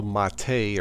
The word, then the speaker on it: MATE: a version of lubuntu called the boon to Ma Tei or it's spelled mates so check it out if you